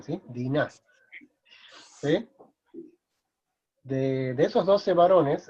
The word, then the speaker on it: Diná: Esta mujer se llamó Diná, ¿sí? Dina. Ahora, de esos 12 hijos, acuérdense que el hebreo acentúa en la segunda sílaba o al final, ¿sí? Diná, ¿sí?